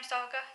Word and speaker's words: Saga: nonautistic figures surrounding um Saga is how you pronounce the name Saga Saga who are confused by her behavior so